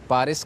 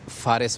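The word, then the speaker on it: Fars: जिसको पारिस कहा जाता है। ठीक। और अरबी जब जुबान में हम उसको प्रोनाउंस करते हैं तो यह लफज़ फारिस बनता है।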